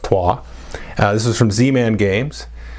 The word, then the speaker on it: Troyes: The next one here is Troyes, which is spelled from an English American perspective, Troyes. It's pronounced Troyes.